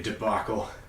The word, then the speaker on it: debacle: word to boggle it doesn't look like it should be pronounced that way but that's the way it's pronounced and you better get used to it don't say demica serious people it will humiliate you in high school sounds like diboll diabolical debacle 2016 no call Pepsi